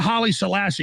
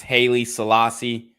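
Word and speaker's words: Haile Selassie: people should read that for themselves what about Holly Selassie because this is what happened to Kyrie Irving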